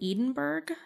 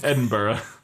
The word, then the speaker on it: Edinburgh: Rowling completed the book while she was staying at the Balmoral Hotel in Edinburgh in January of 2007.